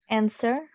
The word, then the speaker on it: answer: Answer.